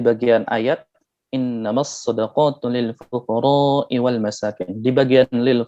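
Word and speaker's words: الفقراء: ayat innamas shadaqatu lil fuqara'i wal masakin. Di bagian lil fuqara itu dibaca pendek, harusnya dibaca panjang. Tapi orang tersebut membaca innamas shadaqatu lil fuqara'i wal masakin. Lil fuqara-nya dibaca pendek 2 harokat.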